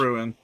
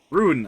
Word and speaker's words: rune: But yeah, it's 10% So per much- ruin. Rune. I need to pronounce that properly.